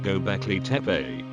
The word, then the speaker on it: Göbekli Tepe: And so, in late 1994, archaeologist Klaus Schmid came to the site of Göbekli Tepe, pronounced Göbekli Tepe, to begin his excavations.